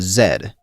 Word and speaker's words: Z: The first Mobius was Zed, Yes, I'm pronouncing it that way, so does the game.